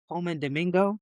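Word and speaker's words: Colman Domingo: Coleman Domingo.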